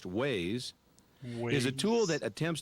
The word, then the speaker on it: WAIS: wide area information server or WAIS pronounced Waze is a tool that